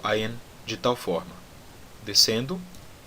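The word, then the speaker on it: עין: Então, o ayin tem o mesmo som do aleph. É aquele som de quando eu falo tá bom? Ayin, e também, como o aleph, ele pode ser um som mudo, pode ser um som silencioso.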